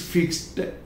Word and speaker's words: fixed: तो इसको अधिकांश लोग बोलते हैं फिक्स्ड ड, बट इट इज नॉट day here, this ED is being pronounced as te. So it is not de, it is fixed. Fixed te. देखिए हिंदी में मैंने क्लियर ये लिखा है fixed, fixed, fixed, not de.